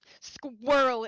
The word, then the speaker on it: squirrel: lot of people like Germans cannot pronounce it correctly squirrel it's just squirrel it's too many consonant sounds that they're like yeah